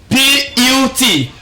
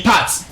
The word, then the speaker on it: put: We can have a word like this. P-U-T, put. And there's no way you can pronounce this word to be pat.